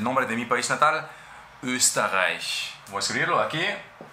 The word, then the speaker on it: Österreich: O por ejemplo, el nombre de mi país natal, Österreich. Voy a escribirlo aquí. Österreich, Österreich.